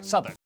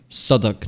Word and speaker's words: Southwark: after the final syllable is silent. Norwich, Berwick, Southwark.